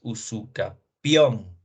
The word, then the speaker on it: usucapión: Porque no es usucapión, ¿no? No se debe dar mayor acentuación eh, a la sílaba K. Aquí es usucapión. Muchos colegas, muchos estudiantes, no sé qué pasa si por un error de lectura o qué dicen usucapión. Es usucapión, accesión, ocupación.